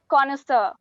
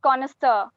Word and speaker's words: connoisseur: time starts now ganesha no that's not the correct pronunciation it's connoisseur i repeat it's connoisseur the next spelling for